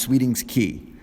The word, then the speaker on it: Sweeting's Cay: to an island called Sweeting's Cay, or pronounced Sweeting's Key.